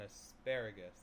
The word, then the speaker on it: asparagus: So the emphasis is on asparagus. So it's the second syllable.